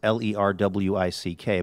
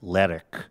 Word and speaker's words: Lerwick: I think I would say Lerwick. It looks like Lerwick. It's L-E-R-W-I-C-K. But on the show on Shetland, they always say Lerwick. Lerwick.